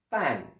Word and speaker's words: 半: qui est le caractère pan. Pan. B-A-N. Pan. Bien, alors pas trop le prononcer le N, mais il faut quand même un peu l'entendre parce que moi, quand